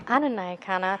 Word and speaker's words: Nyakana: Nyakana. Am I saying it wrong? No, you're saying it right. You're saying it right. Nyakana.